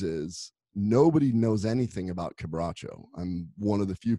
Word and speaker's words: Quebracho: How do you pronounce it again? Quebracho.